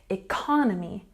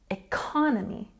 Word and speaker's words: economy: at the next one economy has a stress on the second syllable we've got the big letters here to make it nice and easy economy economy and here stress on